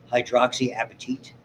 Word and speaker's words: hydroxyapatite: structure they have a great name they're called hydroxyapatite it's how it's pronounced I always remember that because my favorite